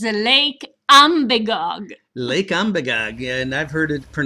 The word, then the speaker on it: Umbagog: It's Lake Umbagog. Lake Umbagog, and I've heard it pronounced 50 different ways, but Alice got it right.